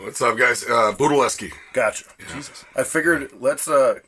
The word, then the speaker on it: Budelewski: you say your last name what's up guys Buda Leske gotcha I figured let's uh cuz Frank has